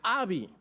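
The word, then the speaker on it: אבי: en el hebreo padre en el hebreo es Abi a ve de vaca I en el hebreo padres se pronuncia Abi y en el contexto hebreo padre escuchen esto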